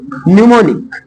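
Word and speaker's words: mnemonic: एम कहां silent रहेगा केवल एक शब्द है जहां पर एम साइलेंट रहता है बाकी इंग्लिश में और कोई नहीं है अगर कोई मिलेगा तो आप लोग बताना इंग्लिश में पूरे इंग्लिश में एक जगह एम साइलेंट रहता है और वो है निमोनिक निमोनिक इसको निमोनिक बोल दो या इसको बोला जा सकता है निमोनिक हा यह बता रहा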